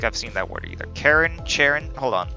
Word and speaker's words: Charon: Charon? Hold on. I think it's Karen, but I just want to make sure, because I like getting the proper pronunciation. Karen. Karen! Ah, Karen, yes.